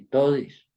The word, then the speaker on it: todis: de todas, todos y todis. Dice, haciendo énfasis en la última sílaba.